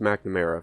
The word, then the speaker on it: McNamara: There's no A there, but it's pronounced McNamara for whatever fucking reason.